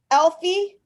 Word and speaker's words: Elfie: this one's just called Elfie very cool and he's got a selfie stick yes so it rhymes with selfie I had another one